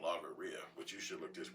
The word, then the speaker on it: logorrhea: It's logorrhea. It's called logorrhea. Look it up. Logghrea. Rhea, like diarrhea.